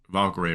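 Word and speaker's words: Valkyrae: How do you say her name? Like Valkyrie? Am I saying it right? Why silent? Valkyrie, right? Okay, got that right.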